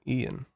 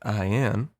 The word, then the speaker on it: Ian: and you a and you may be familiar with ia with the name ian the irish form of john so if you ever see anyone pronouncing it i am they are objectively wrong it is morally correct